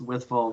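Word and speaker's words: Wytheville: You pronounced it correctly, Robert. Yeah, it's Withville, Virginia, right on the edge of the Blue Ridge Mountains, and grew up playing old time music there.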